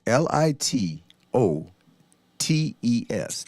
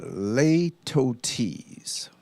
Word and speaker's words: litotes: first word of the day is little tease li t o te s not litotes but Leto T's a little tease the pronunciation the rhetoric forage simply means understand meant